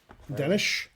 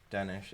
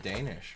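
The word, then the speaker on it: Dénes: Yeah, I mean, do you know how he really pronounces his first name? This is not a joke. Dennis? Danish. It's more like Danish.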